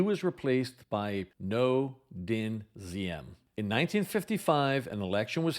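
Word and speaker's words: Diem: reading that name I always thought it was pronounced DM but after listening to many experts on Vietnam apparently it was pronounced ZM so that's the way I will pronounce it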